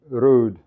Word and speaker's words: Ruud: In Norwegian, Ruud is pronounced roughly Ruud, but not quite like English Ruud. Try the Turkish approach if you can't.